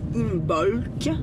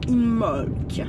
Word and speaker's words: Imbolc: on ne dit pas on ne dit pas imbolk mais on dit imolk en fait comme le B ne se prononce pas sauf que ça